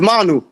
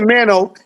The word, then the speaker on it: Manu: And the pronunciation for my name is Manu. All right, don't call me Mano.